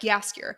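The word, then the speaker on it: Jaskier: i literally just like yaskir and jasper how do you pronounce how do you pronounce his name yes okay that whatever j is a y yeah okay cool they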